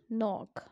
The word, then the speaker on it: knock: a silent letter yes knock in first example k the letter k is silent and we do not pronounce that letter we do not pronounce